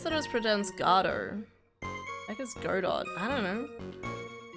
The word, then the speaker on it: Godot: silent pronounce it yeah emphasis on the first syllable not the second it's French a coffee loving defense